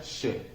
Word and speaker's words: che: La siguiente es la CH o che, como es su nombre en guaraní, que se pronuncia she. De hecho, she es la primera persona singular.